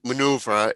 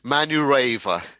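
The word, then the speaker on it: Manurewa: correctly have i uh it was a maori name and it would be manga but no good try good try oh excuse me manu raver right one yeah yeah and even even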